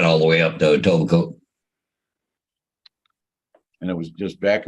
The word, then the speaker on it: Etobicoke: Am I saying that right? Etichoke? The what? Etichoke, the city of Etichoke. It's west of Toronto a little bit. Etobicoke. Etobicoke? Yeah. Yeah. Etobicoke.